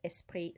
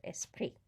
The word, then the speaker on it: esprit: a liaison there because esprit starts with a vowel and so the s carries over meses pre remember also don't pronounce the s or the t on the end of esprit alright i hope you